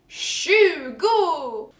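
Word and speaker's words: tjugo: The number 20 is spelled T-J and pronounced, can you guess? Shugo!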